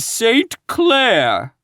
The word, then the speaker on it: St. Clair: Donnell, accent on the last syllable, and St. Clair, on no account Jacob.